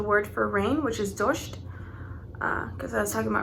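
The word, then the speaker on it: дождь: So rain, as I was saying, is pronounced dosht. Kind of sounds like Dodge, like the car for me.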